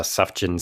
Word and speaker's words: Sufjan: you listen to I've never known how to pronounce this. Is it Sufjan Stevens? Yeah. Sujan Stevens.